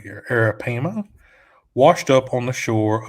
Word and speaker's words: arapaima: A 10-foot arapaima, let me just pronounce this correctly here, arapaima, washed up on the shore of Cape Coral's J.C.